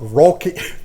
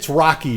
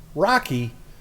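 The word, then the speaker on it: Roky: they were talking about ROI ROI Ericson this is this guy it's Rocky Ericson but his name is spelled r o k y That's how you spell Rocky's name it's pronounced Rocky it's spelled Roi so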